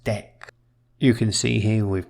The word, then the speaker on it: deque: Well, you can use a double-ended queue, which is pronounced dec. You can see here with dec we can append the